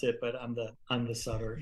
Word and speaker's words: Sutter: The Sutter is like the hockey players, yes. And usually that's how they pronounce it. But I'm the Sutter. You are the Sutter, like Sutter's Mill.